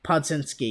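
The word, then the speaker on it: Podziemski: And, you've had some hidden gems like Podsetsky, or however you pronounce how do you pronounce this? Podzinski, yeah.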